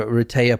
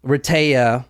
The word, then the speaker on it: Rehtaeh: tonight this is a Reta Parson story so Reta as you'll you you probably need to say her name a few times cuz it took me a while Reta so it's Heather spelled backwards but you you'll see